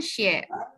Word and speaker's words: 谢: 不用谢，谢. 谢 Nah, ditekan ya, nada 4.